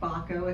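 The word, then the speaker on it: Bakko: My last name is Bekko. It's spelled B as in boy, A-K-K-O.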